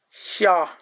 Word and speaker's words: xia: first tone in A, it is pronounced like sha, sha, maybe, sha, sha, sha, like this.